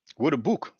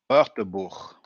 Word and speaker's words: Wörterbuch: the Waterberg, the WB, Waterbook, Waterbook. I need to get that pronunciation right. Waterbook. So I think something like Waterbook, Wörterbuch, Wörterbuch, the Wörterbuch.